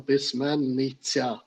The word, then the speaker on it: письменниця: е да просто виправлення щоб зразу же вимовляти це правильно письменниця потрібно проговорювати письменниця Да Ну це як